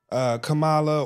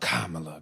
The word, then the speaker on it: Kamala: 1 week it ain't Kamala or however they pronounce it. I think they say Kamala. Anyway, we just say Kamala. Kamala. But, No. Kamala. It's Kamala. Kamala. Okay. Yeah. So not like camel, Kamala.